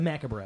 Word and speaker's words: macabre: It's the macabre.